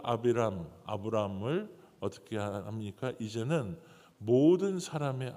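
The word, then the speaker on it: אַבְרָם: 정확한 발음은 히브리어로 아비람입니다. 이것은 그냥 좋은 아버지, 그냥 이렇게 존귀한 아버지, 어떻게 보면 한 사람의 그러한 아버지라는 뜻이에요. 근데 그 아브람을 어떻게 합니까?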